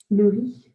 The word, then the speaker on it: le riz: And again, that Z we don't pronunciate the Z as if it's like a Z sound. So listen carefully one more time. Le riz.